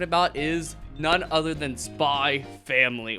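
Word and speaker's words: Spy × Family: is none other than spy family or spy x family depending on how you say it it's like hunter hunter you don't say the x yeah i really i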